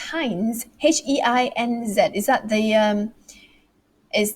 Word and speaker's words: Heinz: to repeat themselves okay um one how to pronounce heinz h-e-i-n-z is that the um is that the ketchup